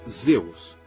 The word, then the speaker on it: Zeus: da tempestade era se a luz em grego pronunciava-se zeus e sim ao nome rio os romanos adicionaram